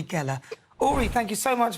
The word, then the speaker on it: Geller: Rhymes with jelly, but it's not Uri Geller, it's Uri Geller.